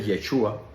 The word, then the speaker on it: yeshua: lo mejor posible y el nombre de Jesús como se escribe originalmente yeshua es como se pronuncia como se dice originalmente y tiene un significado